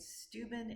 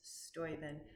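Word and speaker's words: Steuben: I had been pronouncing it stuben. It's Stoen.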